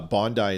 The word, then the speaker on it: Bondi: I spent way too much time in Australia, so I apologize that I said Bondi and I I don't even know why I did. Uh Bondi is absolutely 100% how you pronounce it, and I apologize.